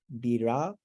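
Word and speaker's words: بِرَبِّ: And then this is the ra with the a vowel on top, bira, bira. And we've talked before about how the ra sort of opens the vowel to an ah sound.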